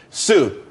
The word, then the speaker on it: Tsu: there's more money and everyone could be happy Sue CSU it's pronounced Sue though that's a that's a website dot Co